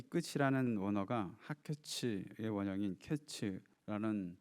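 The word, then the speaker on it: קץ: 1절에 보시면 여름 과일은 히브리어로 카이츠라는 발음인데, 2절에 나오는 이스라엘의 끝에서 이 끝이라는 원어가 하케츠의 원형인 케츠라는 발음인데, 이것이 유사한 자음을 가지고 있어서 풍성한 과일의 끝이 온다는 것을 말씀하고 있는 것이죠.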